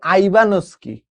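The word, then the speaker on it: Ivanovsky: কিন্তু এটা সর্বপ্রথম আবিষ্কার করেন হচ্ছে বিজ্ঞানী দ্বিমিত্রী আইবানসকি। আইবানোভসকি। ঠিক আছে? এটা সর্বপ্রথম আবিষ্কার করেন কে? বিজ্ঞানী আইবানোস্কি উচ্চারণ হয়। ভর এখানে ভি যেটা আছে ওটা উচ্চারণ হয় না। বাট ওরা দিছে আইবানো ভোস্কি।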